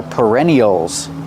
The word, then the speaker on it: perennial: are called perennials pronunciation use the r sound like Burger per per perennial these flowers are called